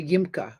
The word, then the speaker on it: YMCA: ask me why but it was always pronounced the yima because in he in Israel they wouldn't say YMCA because those are in our letters but it was yima they would make it into